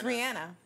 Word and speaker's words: Rihanna: It's Rihanna.